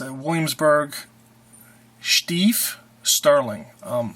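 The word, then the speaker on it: Stieff: It's a Williamsburg Stief sterling. Now I say Stief because I'm a little more prolific on the German, but you can call it Stief, but it's spelled S-T-I-E-F-F, sterling.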